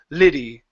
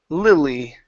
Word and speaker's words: Lily: a few times here this last time was was the only time that you really pronounced a hard L saying Liddy ok so give me a smooth L here lil Lily memory there you go Lily